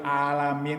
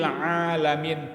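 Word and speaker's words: العالمين: Karena bacanya pakai alif, rabbil alamin. Harusnya kan ain, rabbil alamin, Tuhan semesta alam.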